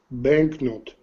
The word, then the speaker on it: banknote: can you hear it banknote is very short the key the k decay or sorry yeah it's very short but it's not silent that's the important thing